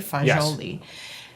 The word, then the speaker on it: fagioli: the like northern Italian, the the Florentine version of it is spelled f a g i o l i, right? Fajoli.